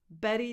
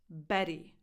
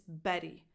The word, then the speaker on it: Bette: And Susan Sarandon once played Bette Davis. Bette Davis. Betty. That's right. This name is pronounced with a tense E at the end. It's not a silent vowel. It's not Bet. It's Betty.